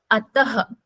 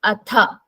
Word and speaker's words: अथ: It is not ataha. It is atha.